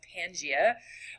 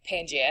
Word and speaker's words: Pangaea: So there was a giant blob of land, again called Pangaea, and here's the spelling of Pangaea. There is sort of a silent A.